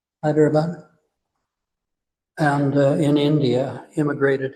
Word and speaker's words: Hyderabad: I wanted to mention that uh Mohini um was born in uh Hyderabad I guess is that way you pronounce it? Yes. Hyderabad.